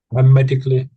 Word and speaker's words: hermetically: Yeah, it could be a little bit stronger on the H at the beginning. So, hermetically. So, I'm sort of I am think I'm sort of saying her at the beginning pretty much.